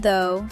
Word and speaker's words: though: The word, though, sounds like O.